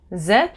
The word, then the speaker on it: êtes: Vous êtes. So again, O-U-S, you don't pronounce the S. And et, E-T-E-S, you don't pronounce the S.